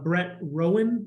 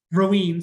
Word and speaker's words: Rowan: So there is a Dover resident, Brett Rowan, I believe is how you pronounce it. Roween, sorry.